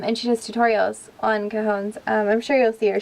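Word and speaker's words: cajón: you thought was a cone um it's a cajon i believe it is spelled c-a-j-o-n um if you type it into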